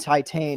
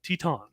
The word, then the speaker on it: Teton: Is it Teton or is it It- Titan? it Because is- I've been calling it- it Titan. We did this on the podcast back in October. We got the pronunciation right. Teton. Teton. It's Well, French.